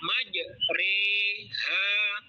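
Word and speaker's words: مجريها: bunyi fathah kepada kasrah imalah ialah memiringkan bunyi fathah kepada kasrah di Alquran hanya ada satu yaitu terdapat di surah hud ayat 41 lafal atau tulisannya maj Tapi bacanya Ma ha majroa dibaca maj re ha majre ha Monggo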